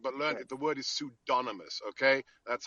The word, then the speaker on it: pseudonymous: attack like independent but learn the word is pseudonymous okay that's how it's pronounced now we have been lectured now for